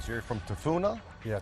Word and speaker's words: Tafuna: Make sure I pronounce this correctly. So you're from Tafuna? Yeah, Tafuna.